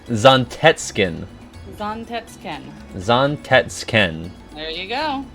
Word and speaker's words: Zantetsuken: It's pronounced Zontetsken. Zontetskin.